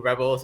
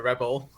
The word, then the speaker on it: rebel: who rebels is a rebel right it is a lot so it's an example of a pronunciation difference because there's rebel and rebel one is the noun and one is the verb but it's still a